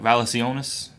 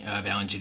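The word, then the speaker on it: Valančiūnas: But for me, the game changer, I think, is, correct me if I pronounce this wrong, Valanciunas. Valanciunas, yes.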